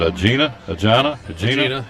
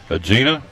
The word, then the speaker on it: Aegina: Aegina, yeah. Aegina.